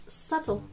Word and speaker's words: subtle: Exception, كيما subtle. لا لا, subtle.